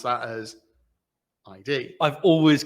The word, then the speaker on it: id: normally pronounce that as ID. I've always called it ID software. What is it? Id, as an ego, id. That's a great today I learned. It's like, I've always called it ID software.